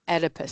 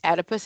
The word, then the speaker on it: Oedipus: It is divided into my Electra stage as well as my Oedipus stage. And it does start with an O, but that O is silent, so it's the Oedipus stage. The Oedipus is the boy who's